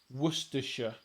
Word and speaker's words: Worcestershire: to sounding things out, Worcestershire makes sense if you read it phonetically. In the same way as Lancastershire and things like that, but it's Worcestershire and Lancashire.